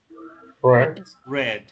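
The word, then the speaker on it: read: se pronuncian pasado y se escribe igual mire se escribe igual en presente en pasado y el arte pero sin ritmo red red sí entonces es la misma escritura pero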